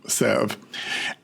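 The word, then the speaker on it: Sèvres: And so I've always wanted to have an 18th century, a period piece from Sev. And that's spelled Sevres if anybody's interested in looking it up.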